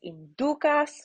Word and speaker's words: inducas: Debitoribus nostris et ne nos inducas, right? The U is long, so the accent goes on the penultimate syllable.